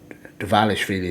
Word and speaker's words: Dvalishvili: And Dvalishvili is how I should pronounce his name. Sorry. Dvalishvili with the win in the end, which I thought was fair, but good fight on both sides.